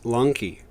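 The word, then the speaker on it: λόγχη: for the spear itself in greek log che pronounced lanky the latin lancea has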